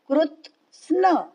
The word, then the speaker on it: कृत्स्न: तान न पूरा तान कृत्स्नविदो मंदान कृत्स्न कृत्स्न कृत आधा त आगे स्न कृत्स्न विन्न विन्न डबल न अन्न का न डबल न कृत्स्न विन्न विचालयेत विचालयेत कृत्स्न विन्न विचालयेत.